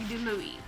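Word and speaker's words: DiLouie: and it is Suffer the Children by Craig DeLuey.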